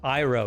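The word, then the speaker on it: Iroh: start the hack now iro is it iro okay i never know i in italian and german is usually pronounced e so i often use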